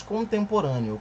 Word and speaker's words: contemporâneo: Quando nós falamos contemporâneo, quantas pausas nós fazemos? Contemporâneo. Nós temos aqui uma palavra que é proparoxítona.